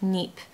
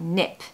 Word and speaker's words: nip: tip for this is make sure you pronounce nip really fast because if you spend too long on that word it will sound like NEP and we don't want that we want nip so to nip it